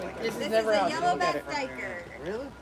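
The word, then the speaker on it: duiker: Yellowback Doiker.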